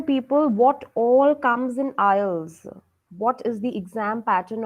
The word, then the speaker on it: IELTS: in a wrong way it's not islets it's aisles okay so when we